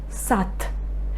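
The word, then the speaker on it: сад: Here d is the final letter. That's why I pronounce t instead. Sat.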